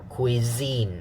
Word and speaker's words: cuisine: just highlight it correctly is the second syllable cuisine so this one is stronger cuisine okay why is this stronger because the stress mark has showed you yeah how about the